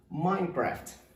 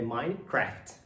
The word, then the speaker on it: Minecraft: uma palavra bem grande ela tem só duas sílabas com aqui ó entre